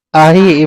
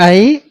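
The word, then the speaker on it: أخي: Aki. Ibu ini bacanya ahi.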